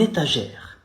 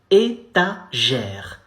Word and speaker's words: étagère: You say une étagère. It's feminine, so we say une étagère. Étagère. The final E is silent, so étagère.